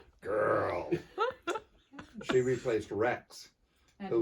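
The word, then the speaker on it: Grrl: And this is Girl. Hello. That's spelled G-R-R-L. Girl.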